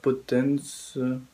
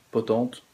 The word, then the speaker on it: Potente: Alors c'est avec Franka Potence, ouais, ça se prononce Potente, réalisé par Christopher Smith.